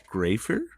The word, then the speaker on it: Graifer: the young Professor of the Savannah bananas graer did I say that correct did I pronounce it correctly you nailed it you nailed